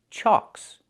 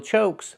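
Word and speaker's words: chock: The CK is a double consonant that makes the previous vowel short, so we have the ah sound, like in socks and blocks. It's an open sound, ah. So it's pronounced chalks, chalks, wheel chalks. Not wheel chokes, but wheel chalks.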